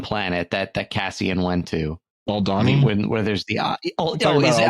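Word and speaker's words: Aldhani: Jeff, how do you pronounce that one planet that Cassian went to? Aldani. Where there's the is it Aldani?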